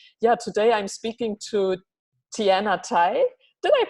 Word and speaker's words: Tianna Tye: community online and yeah today I'm speaking to Tien Atty did I pronounce that your last name correctly I know